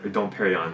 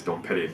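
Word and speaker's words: Dom Pérignon: base don't Petty or don't Parry on it's how you say it actually not the Japanese ways don't pity but in the club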